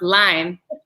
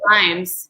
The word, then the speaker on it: Lyme: And I learned from listening to you that it's pronounced Lyme, not limes, and it is not an allergy to limes.